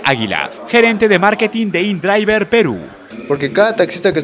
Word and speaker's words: InDriver: Se encuentra como InDriver en español, se pronuncia InDriver.